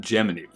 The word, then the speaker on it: Gemini: Ocean First Gemini 8 NASA and the astronauts officially pronounced it geminy I've never heard a